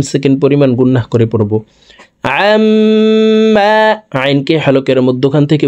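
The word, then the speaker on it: عَمَّا: মিমের সাথে তিন সেকেন্ড পরিমাণ গুন্নাহ করে পড়ব আমমা আইনকে হালকের মধ্যখান থেকে উচ্চারণ করব আমশরিকুন সুবহানাল্লাহি আমমা ইশরিকু হু আল্লাহুল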